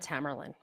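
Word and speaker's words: Tamerlan: Jiar and Tamarlain. Those are the two brothers. Just so you want to know to how to pronounce them.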